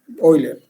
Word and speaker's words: Euler: Si quieren pronunciar bien, Euler. En español, Euler.